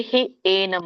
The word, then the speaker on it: ಹ್ಯೇನಂ: ಹೇನಂ ಅಂದ್ರೆ ಇಲ್ಲಿ ಹಿ ಏನಂ ಅಂತ ಬಿಡಿಸಿದಾಗ ಹಿ ಏನಂ.